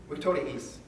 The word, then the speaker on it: Victoriis: I was like, I've got two eyes next to each other. What do I do? I just pronounce them both. That was easy. Victoriis.